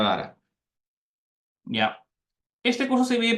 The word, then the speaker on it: data: datata Big Data Perdón no se pronuncia deita se pronuncia dara ya este curso se